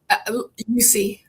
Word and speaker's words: Eucce: Well, without further ado, can you pronounce her last name so I don't mess it up? Eucce. Eucce?